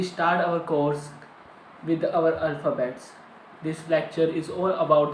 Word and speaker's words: Alphabet: do alphabet means alphabet alphabet is similar but the pronunciation is different in English we said alphabet but in German we said alphabet alphabet alphabet so thus